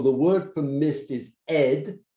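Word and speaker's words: אד: And in Hebrew, the word for mist is ed. It's spelled Aleph Dalet.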